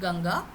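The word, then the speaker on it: गंगा: Similarly Ganga uh usually in Hindi we write it as G on uh then we put the dot and then G. So but here it'll have that sound of N because G is coming. So g is in the c-g is the last anunasika. So it'll be ganga ganga. Okay. Na sound will come.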